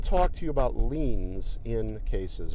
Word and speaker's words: lien: talk to you about leans in cases what's a lean how do you spell it lean is spelled l-i-e-n and a lien is